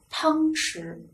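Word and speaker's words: 汤匙: 它还念匙，什么匙呢？汤匙，是不是？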